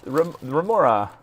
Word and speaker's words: Remora: Hey, it's Remora. Pronounced like the fish.